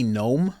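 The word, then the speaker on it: Noem: there's also a Christy Christy gnome I believe her last name is pronounced she's amazing it could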